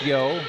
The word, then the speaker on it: Yeo: the Hawks marklar spells his last name Yeo that pronounced yo here come the